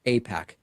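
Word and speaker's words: AIPAC: Apac.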